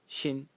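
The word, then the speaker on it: 心: And the semantic element in it is this over here, which is pronounced xin, and it's a heart.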